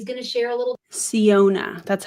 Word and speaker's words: Syona: in and she's going to share a little ciona that's how you say it I'm also going